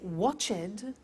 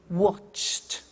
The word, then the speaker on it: watched: Now, when we add the ed, what happens is the pronunciation becomes T. We don't say watched, we eliminate the E and we say watched.